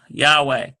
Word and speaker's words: Yahweh: it again why a H w e H Yahweh and so this is what they're doing they